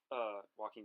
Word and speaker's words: Joaquin: How do you pronounce his name? Joaquin Phoenix.